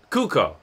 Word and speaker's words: Cuoco: Cuoco? From Big Bang Theory. I'll put it in the... It's just called Harley Quinn. I'll drop information about this. Kuko, thank you.